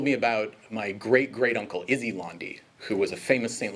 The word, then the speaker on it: Londe: Our last name, bafflingly pronounced Londe instead of Londe, and we have no French origins.